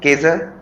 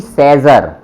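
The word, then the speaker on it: Cäsar: सी वी केजर, नहीं नहीं, केजर नहीं बोलना और सी भी नहीं बोलना, इसको बोलना है से वी सेजर, से वी सेजर, सेजर है ना।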